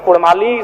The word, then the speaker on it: कुड़माली: इसीलिए मैं मांग करता हूं कि र के स्थान पे अड़ किया जाए। क्योंकि कुड़माली साहित्य की बात करें तो अड़ का महत्वपूर्ण स्थान है, जैसे काड़ा, माड़ा, भेड़ा, पीड़ा, डाड़ा, गौड़, मूड़, ये उच्चारण केवल कुड़माली साहित्य में ही संभव है।